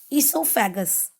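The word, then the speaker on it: oesophagus: Students, the spelling of esophagus is starting with O, but here O is silent. So we will pronounce it esophagus.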